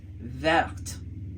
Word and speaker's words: verte: We added an E to the end and then we ended up with verte.